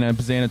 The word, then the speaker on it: Bazzana: with the B stuff I get rhymes with banana I get it cool